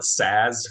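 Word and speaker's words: SaaS: listeners a little bit yeah i always just call it saz like just say this because there's two two a's there in a row but i've heard it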